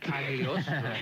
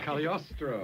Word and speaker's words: Cagliostro: Well, you've got the first syllable right. Cagliostro. Cagliostro.